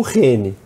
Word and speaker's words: Heni: e o problema com Reni porque se escreve com h i i então H aspirado ninguém falou H é outra eu vou falar n